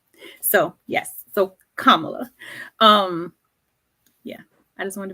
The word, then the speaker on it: Kamala: her name is pronounced Kamala um comma Kamala like the punctuation La so yes so Kamala um yeah I just